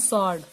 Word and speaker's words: sword: अगर मैं बात करती हूँ SWORD, इसको बोलते हैं सॉर्ड। क्या बोलते हैं? सॉर्ड। तो यहाँ पर देखो क्या है, W जो है वो यहाँ पर साइलेंट है।